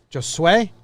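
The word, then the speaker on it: Josué: jose something like that josue josue just sway like suede just suede anyway that's the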